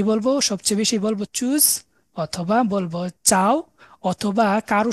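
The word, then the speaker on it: Tschüss: বিদায়ের সময় সবচেয়ে কমন যেটা সেটা হচ্ছে চুজ উচ্চারণটা হচ্ছে চুজ আমরা উমলা উটগুলা কিভাবে উচ্চারণ করে এগুলো আলফাবেট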